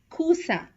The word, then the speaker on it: coussin: SS, two S's together is pronounced as S, as in coussin, poisson. S, one S is pronounced as Z. It has a Z sound, Z, as in cousin, poison. Here again, have a good note on these two.